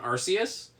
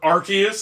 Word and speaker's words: Arceus: I was the only one of the three of us that actually played Pokemon Arceus, or Arceus, I guess.